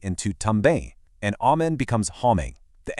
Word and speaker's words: homem: The first M starts the second syllable, so it's our familiar English M, but the word ends with another M, which has to be nasal, making it homem.